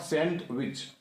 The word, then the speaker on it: sandwich: It is called sandwich, not sandwich. Sandwich, D silent.